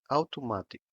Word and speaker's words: automático: The stressed syllable is in ma, however, the first syllable is a diphthong, and so it sounds ow.